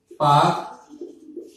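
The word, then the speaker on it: Palk: है, जिसका नाम है पाक जल संधि। अब ये पाक जल संधि जो है इसमें एल साइलेंट रहता है, तो इसको हम पाक जल संधि कहते हैं।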